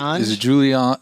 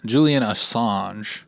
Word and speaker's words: Assange: Is it Assange? Julian Assange? Yeah. It's like That's how all the reporters do it. Assange. it's like I'm going to go to this parlor and get an Assange.